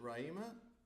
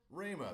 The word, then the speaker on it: Rama: Is it Raima? Well, how do you say it? Rama. That's what I meant to say.